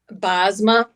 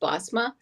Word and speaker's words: Bosma: Bozma. Um You're okay with Bozma? Say that like that because I'm actually Dutch and it's really supposed to be pronounced Bosma.